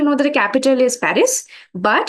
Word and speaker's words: Paris: that the capital is Paris but in French we say it as Pari not Paris yes par and it's